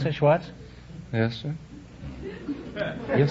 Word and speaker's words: Schwartz: Is that how you pronounce it, Schwartz?